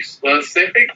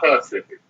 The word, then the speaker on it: specific: When you say specific, do you say specific or do you say pacific? Specific.